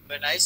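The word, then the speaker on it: Venice: इसको वेनाइस कह लें या वेनिस कह लें, आपकी अपनी मर्जी, लेकिन वीनस नहीं कहना।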